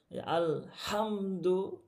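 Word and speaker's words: الحمد: আলহামদুলিল্লাহি রাব্বিল আলামিন আলহামদু এখানে ওইভাবে কষ্ট করা লাগবে না শুধুমাত্র গলার মধ্য থেকে বাতাসটা বের হলেই কি হয়ে যাবে উচ্চারণটা শুদ্ধ হয়ে যাবে।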